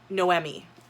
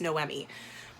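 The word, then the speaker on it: Noemí: atmospheric so this i looked up how to pronounce her name it's noemi i always i was pronouncing my head nomi but it's no emmy so this is a story about noemi she lives in mexico city she is kind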